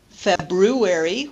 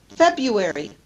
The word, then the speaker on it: February: and finally disappearing R we don't typically say February we say February February the r is not pronounced Governor rather than Governor